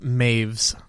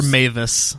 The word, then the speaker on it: Meiwes: have to go to according to wikipedia it's pronounced maeve's that's it or mavis yeah m-a-i-v-e-s is how the pronunciation is that's